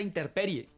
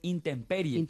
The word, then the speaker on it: intemperie: Otra cosa dice vamos a la interperie, es intemperie.